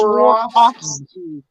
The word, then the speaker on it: Swarovski: So it's Swarovski.